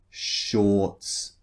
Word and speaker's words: shorts: In the second vowel sound, or, shorts. The R in shorts is not pronounced either.